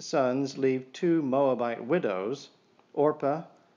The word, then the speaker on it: Orpah: The diseased sons leave two Moabite widows, Orpah, people usually mispronounce that, Oprah, when they get to it.